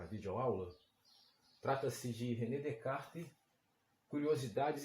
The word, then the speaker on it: Descartes: Em francês não se pronuncia o S final não se pronuncia. Então, quando fazemos a justaposição dessas duas palavras, Descartes, fica o nome próprio Descartes, né, que seria Descartes, né?